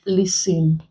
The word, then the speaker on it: listen: also have silent t there are words that contain silent T where it's like Hustle bustle Nestle opposed to Castle wrestle whistle it is also silent in words like listen facing often words